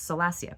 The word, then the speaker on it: Salacia: I keep wanting to say Salacia because of the way it's spelled, but it's Salacia, Princess Salacia.